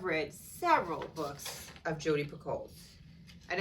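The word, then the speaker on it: Picoult: several books of jodie picoles and i think it's for coal pickle i don't think the t is pronounced correct me if i'm wrong right i think that the t is silent so it's p judy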